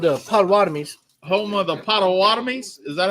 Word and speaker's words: Potawatomi: Home of the Potawatomis.